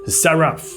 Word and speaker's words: Seraph: 火蛇，这里的火蛇在希伯来语中念作 Seraph，意思是会发火